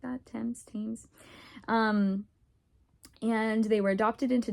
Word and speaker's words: Thames: I think it's pronounced like that, Thames.